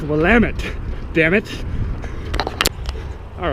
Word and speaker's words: Willamette: near each other it's the willamette it's not pronounced willamette damn you it is pronounced willamette damn it all right crossfit bookstore shaolin kempo